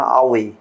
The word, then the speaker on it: আওয়ে: এটা বাংলায় আবয়িকা রয়েছে, আবই উচ্চারণ হবে না, আওয়ে। ভূত পিশাচ নিকট নেই আওয়ে, মহাবীর জব নাম শুনাওয়ে।